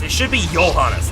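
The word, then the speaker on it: Johannes: his blood an exorcist like me yeah johanes it should be yanas not not not J devil jeble I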